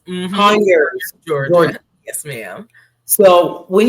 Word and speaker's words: Conyers: Is it Converse? Conyers. Conyers, Georgia.